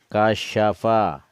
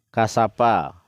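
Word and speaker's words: كَشَفَ: Kasyafa, ini SYA, sya, bukan TSA. Jadi kalau orang baca kasapa, nah itu dia jadi sin, bukan jadi shin. Ini huruf sin, 3 lengkungannya ke atas. Jadi membacanya itu boleh pelan. Kasyafa. Ulang lagi. Kasyafa. Jadi harus terdengar syanya itu.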